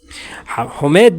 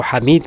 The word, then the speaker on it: حمید: اسے کبھی نہ بخشنا۔ حمید بن مسلم کہتا ہے، ہم اس کو حمید کہتے ہیں برصغیر میں، لیکن اصل میں عربی لہجے میں حمید ہوتا ہے، چلو ہم اپنے برصغیر